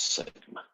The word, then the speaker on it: sigma: And we pronounce that as sigma.